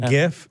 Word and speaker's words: GIF: on the hill of how to pronounce the abbreviation for graphics interchange format it's a gif Jeff is a peanut butter alright and that is